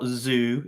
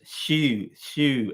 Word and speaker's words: Xu: It's not Xu, it's XU, which is shoe, XU, shoe, like a shoe, you know, like you're wearing your, you could say your shoe, not Xu, For fuck's sake.